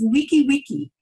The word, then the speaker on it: wiki wiki: And they say it like this, wiki wiki.